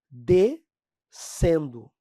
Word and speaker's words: descendo: fonema mas aqui pessoal no descendo ó esse SC tem o sonzinho de S né tanto que você